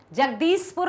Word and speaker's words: जगदीशपुर: है उसके बाद बोलिए जगदीशपुर जगदीशपुर नहीं बोलना बच्चों जगदीशपुर बोलिए जगदीशपुर विश्वास तो क्या